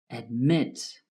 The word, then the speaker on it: admit: Admit has two syllables, though the last syllable is stressed. Admit.